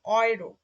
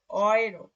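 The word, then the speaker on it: Euro: তারপরে এ এবং উ যখন একসাথে থাকবে তখন হবে অয়ে, যেমন অয়রো, অয়রো, ঠিক আছে?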